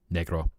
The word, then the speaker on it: negro: That's pronunciation is probably where you'll make the diff is where you'll make the differentiator since in English you add a different vowel which makes it sound like what's the best word of describing it an outofdate term that often had uh derogatory racial context but yeah in Spanish it's literally just black negro how the cape curves